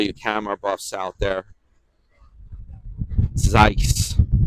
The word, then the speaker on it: Zeiss: camera Buffs out there Zeiss rhymes with Weiss Better Think Twice